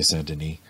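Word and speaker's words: Denis: a devotion to saint well it's spelled dennis d-e-n-i-s i suppose the french would say santini uh who who was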